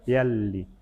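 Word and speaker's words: pialli: Y la L se pronuncia doble, piali.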